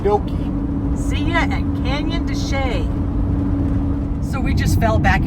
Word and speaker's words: de Chelly: We're going to try to spend the night at Canyon Deay. I thought it was Dech. I did, too. It's It's spelled that way.